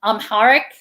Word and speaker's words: Amharic: language they had programmed her to speak um amharic is that the the language of ethiopia i'm not sure if i'm pronouncing it correctly it is i'm hard yes